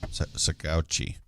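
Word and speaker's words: Saguache: all right so um i'm not going to pronounce this correctly but i'll give it a shot okay sakauchi nailed it that's s-a-g-u-a-c-h-e and now big words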